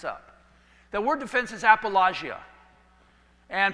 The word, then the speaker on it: apologia: The word defense is apologia. And pronounced by most people apologia, but they're incorrect on the pronunciation, but big deal.